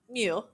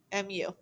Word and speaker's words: mu: front and a tail and back and that's pronounced mu mu so it's not an m it's not a